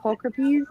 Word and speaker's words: pulchripes: I'm gonna say it wrong, but the H. pulchripes, did I say that right? That was right.